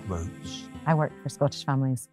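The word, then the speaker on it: Routes: The name Roots, it's spelled R-O-U-T-E-S, and it comes from the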